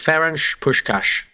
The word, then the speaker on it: Ferenc Puskás: Okay, so I asked the lady, it's Ferenc Puskás. So if we sound like Steve McLaren, then that's the fault of the Hungarian language. Sean Connery, Ferenc. Yes. Yeah, sure, Ferenc Puskás.